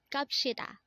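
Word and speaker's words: 갑시다: Again, this is pronounced as Kapshida, and this is another way of saying let's go, but this is a formal way of saying let's go.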